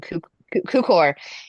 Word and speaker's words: Cukor: And so it's done by it's directed by George I'm going to say his name Tukor. wrong, Cukor.